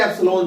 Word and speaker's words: epsilon: Permittivity को हम दिखाते हैं एप्सिलॉन से। किसे दिखाते हैं? इसका स्पेलिंग है EPSILON।